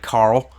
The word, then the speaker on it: Carl: something like that now my personal variant the L car9 Carl you got to say it like that it's Carl because it's inspired by The Walking Dead it's not Carl it's Carl so the L car9 Carl